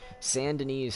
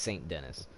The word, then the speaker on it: Saint Denis: we're over here in San Denis or Saint Denis Saint Denis however anybody wants to say it San Denis is how they say it in the game you know just went off the tee but it's Saint Denis so everybody here there